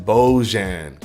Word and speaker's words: Bojan: It's pronounced like Bu or Bo. Oh, Bo, and then Jan. Bojan.